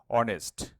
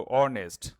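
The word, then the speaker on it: honest: তো consonant sound হলেও মনে রাখবা যে এখানে এইচ হচ্ছে একটি সাইলেন্ট লেটার। এইচ যদি সাইলেন্ট হয় তাহলে এবার দেখো অনেস্ট। মানে উচ্চারণটা শুরু হচ্ছে ও থেকে। তো অনেস্ট।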